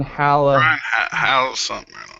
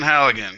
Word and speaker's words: Halligan: pulled up I keep forgetting his name Brian Hallett house yeah anyway big guys yeah he's um Brian Halligan Allegan yes sorry Brian we butchered your name but you have a multi-million